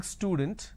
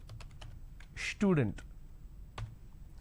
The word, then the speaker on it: student: For example, the word student, instead of saying student, lot of people pronounce this as student. So they add sh, they start it with sh instead of s.